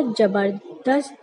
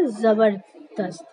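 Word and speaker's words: ज़बरदस्त: जबरदस्त तो गलत हुआ, क्योंकि आज ही हम लोगों ने सीखा है, इसे पढ़ेंगे जा। तो सही शब्द क्या होगा, सही इस शब्द का सही उच्चारण क्या होगा, जबरदस्त। तो आज हम लोगों ने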